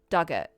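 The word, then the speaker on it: Dugort: Pronunciation, Dug like the past tense of dig, or rhymes with hurt. Duggett.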